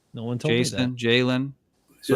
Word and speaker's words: Jalon: It's funny because actually if you look at Jaylen Walker, it's just like Jason Walker. Just it's a L instead of an S and Jason still can't pronounce it right.